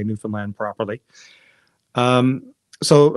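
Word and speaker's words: Newfoundland: Finland properly um so Americans had trouble with the where the syllable emphasis is in newfinland we always say if you want to know how to say it just say understand New Finland and there you go oh okay so um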